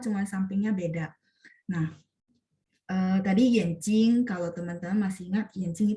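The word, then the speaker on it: 眼睛: Yenjing de jing, dia bacanya jing nada 1. Cuman kalau digabung sama yenjing karena dia benda biasanya rata-rata dibaca nada 5.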